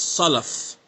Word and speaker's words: Salaf: Salaf. No, brother, it's Salaf.